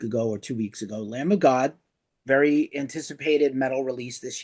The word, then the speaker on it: Lamb of God: it on Ghost, did you pronounce the B in lamb? Lamb of God. Okay. Lamb. I'm not from the Midwest, bro. Lamb of God. We don't say lambda.